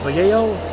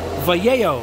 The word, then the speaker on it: Vallejo: All right, guys, next up will be Model Air Vallejo. Vallejo, that's how it, somebody told me that's how you say it.